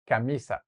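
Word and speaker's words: camisa: kamissa kamissa kamissa H you have to sound a little bit less American or British kamisa not cisa all right so anyways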